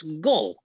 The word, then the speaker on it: Gul: That's Gull. Spelled like gull, but only got one L.